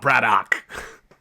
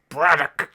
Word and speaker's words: Braddock: So like, yeah, it's not Braddock. It's Braddock.